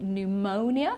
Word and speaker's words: pneumonia: P at all and here we say pneumonia so we don't pronounce the P and pneumatics right so